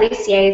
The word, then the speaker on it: Lussier: ask ahead of time yeah lucier is perfect lucier okay lucier